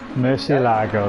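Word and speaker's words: Murciélago: Then we've got how would we pronounce that? Murcielago? Murcielago, that's it.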